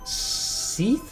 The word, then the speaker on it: Seath: Oh my god, I can never say this line. Seath? C. So like seashore, Oh, like it was seashell. like the D is silent.